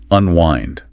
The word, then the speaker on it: unwind: Unwind. The second syllable rhymes with kind or mind.